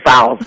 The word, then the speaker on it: Fowles: Growing up, Newark, New Jersey, before you were Gloria Gaynor, you were Gloria, was it Fowles? Is that how you say it? Fowles, yeah.